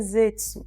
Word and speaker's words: Zeztz: Riders, que é o Kamen Rider Zetsu. Ele se escreve assim, Z-E-Z-T-Z.